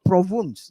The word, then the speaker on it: Provence: Yeah, Provence. province, huh? Provence. The way they pronounce. Oh, because it's French.